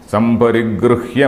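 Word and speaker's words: सम्परिगृह्य: Etat Shrutva Samparigruhya Martyaha. Of course, I have to pronounce this Gru also. Samparigrihya Martyaha.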